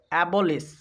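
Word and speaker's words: abolish: তো এটার উচ্চারণ হবে অ্যাবলিশ, অ্যাবলিশ মানে বাতিল করা। একটু খেয়াল করো, যেখানে আমরা এস এইচ পাবো সেখানে কিন্তু তালব্য শয়ের উচ্চারণ হবে।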